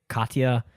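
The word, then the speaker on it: Katja: Katya Leica. It's a crazy name. Yeah, it's probably close. It's K A T J A which I believe is Katya.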